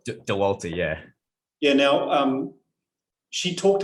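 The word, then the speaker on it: Dauwalter: How do you pronounce her surname? DeWalt. DeWalter, yeah.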